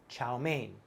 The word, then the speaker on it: chow mein: see from the chinese chaomian it becomes chao main kind of a little bit close and over time in america the mien became a main sound so if you're at